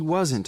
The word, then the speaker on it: wasn't: He wasn't a waiter. No, he wasn't. He wasn't a waiter. Okay, we say weren't as one syllable. Weren't. Wasn't has two syllables.